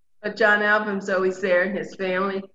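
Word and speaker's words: Ahlbum: But John Album's always there, and his family, who are all partners in this, his wife and his son.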